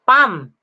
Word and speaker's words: palm: So palm, silent L po, palm.